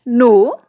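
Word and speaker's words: know: दिया तो गया है, but when we pronounce it के इज ड्रॉप्ड हियर।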